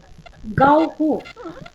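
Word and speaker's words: गौः: How it is pronounced, ma'am? Gauhu. Gauhu. So that visarga should be pronounced.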